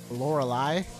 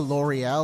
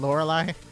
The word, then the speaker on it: Lorelei: All hail the Ice Queen, Lorelei. I'm pretty sure I mispronounced her name as a kid. Probably something closer to L'Oreal or Lorelei.